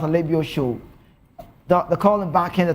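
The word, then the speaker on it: Alebiosu: If you're Yoruba, you pronounce Alebio Show.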